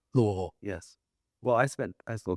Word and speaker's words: Louisville: Provo to Louisville. I love how you pronounced it correctly. Louisville.